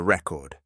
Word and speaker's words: record: And I hope you could hear that the stress was on the first syllable. Often we record songs or videos. There is our verb. Let's hear that again. Record. Record. Can you hear that? This time the stress is on the second syllable.